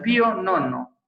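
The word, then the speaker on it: Pio Nono: Y le dijo al Pío Nono, que es como se pronuncia en italiano, ¿no?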